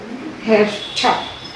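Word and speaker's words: Hertha: Hefta, we used to say H-E-R-T-H-A, the friend of the heroine. He said, no, you have to say to, Hefta, Hefta.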